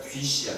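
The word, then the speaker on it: θυσία: 헬라어로는 휘시아라고 하면 편한데 이게 이제 TH 발음이니까 뒤시아.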